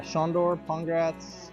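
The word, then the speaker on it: Sandor Pongracz: just tell me your full name rank and spell it if you would as well uh shondor congrats apparatus operator black inspire s-a-n-d-o-r-p-o-n-g-r-a-c-z awesome tell me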